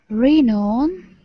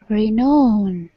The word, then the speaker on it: renown: Renown. The emphasis goes here. Renown.